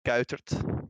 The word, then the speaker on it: Kuitert: In Dutch you say kuitert, but how you pronounce it?